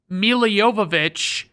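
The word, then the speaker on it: Milla Jovovich: of Sandler's last good comedies then we have Mila Jovovich and if you're wondering Brandon why did you pronounce it like that I'll just say that it's because Mila Jovovich is the way she pronounces it and I learned that in the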